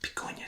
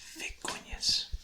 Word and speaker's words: vicuñas: Sounds like B, like picuñas. Someone comes up to you, picuñas, and you're like, no, it's vicuñas. So the Spanish pronunciation will throw you off if you're only familiar with English.